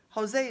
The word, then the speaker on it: Jose: Jose is just a nickname that rhymes with way.